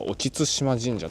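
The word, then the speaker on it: 沖津島神社: ここの神社は沖津島神社と読むそうです。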